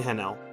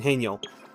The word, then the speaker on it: Haniel: It's Mint, Esper, Shakiri, and Hanel. And Haniel. I keep calling her name wrong.